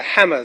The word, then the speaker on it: Hummer: And the hammer that we see that becomes very popular for ODM is a play on that word, Hummer, pronounced like hammer in Kenya, and it became, and that was the reason, wasn't it?